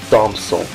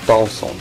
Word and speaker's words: Thompson: Não é Thompson. Não tem um P ali, então você fala Thompson.